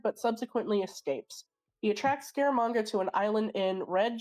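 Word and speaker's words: Scaramanga: Uh the bullet signifies that Bond is a target of assassin Francisco Garamanga. I'm probably mispronouncing the name, but I just Scaramonga. You got it.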